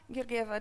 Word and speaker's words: Georgieva: I was and I asked who is mirgiver this is how my name is pronounce um from zoiper and vanafo and it